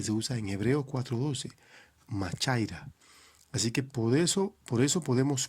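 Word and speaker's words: μάχαιρα: Cuando Hebreos 4:12 dice más cortante que toda espada de dos filos, hay una palabrita griega que se pronuncia machaira para referirse a espada, y eso habla de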